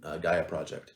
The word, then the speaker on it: Gaia Project: So if it's number one, then yeah, we should play Gaia Project. Thank you for correcting the pronunciation.